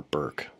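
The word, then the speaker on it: Bourque: name was Justin Christian borke or Burke I guess his father pronounces it that way so I will too it looks like Bor like Ray Bor a hockey player uh he is the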